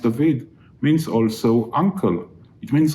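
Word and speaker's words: דוד: doesn't mean anything in hebrew david which is pronounced david means also uncle it means also lover obviously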